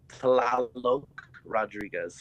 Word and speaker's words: Rodriguez: It's uh Rodriguez.